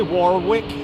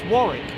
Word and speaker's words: Warwick: And when he comes in, he goes, "Hi, Warawwick. How are you?" He goes, "I'm fine, thank you very much." Why don't you go, "I'm fine, thank you very much." And it's Warick, by the way.